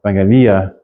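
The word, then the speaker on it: εὐαγγελία: The accent on that last iota. Evangelia. That's going to be another hard thing because in English we always accent the second syllable.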